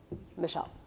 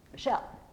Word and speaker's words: Michelle: da da for example my name is Michelle it has two syllables I don't say Michel I don't put the stress on the me part I put the o on the shell part M shelle right and in poetry we